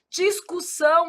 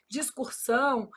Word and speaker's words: discussão: Discussão. Aí o povo vai e fala o quê? Discursão.